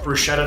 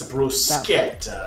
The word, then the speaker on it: bruschetta: I remember I called it bruschetta the first day. He's like, it's bruschetta.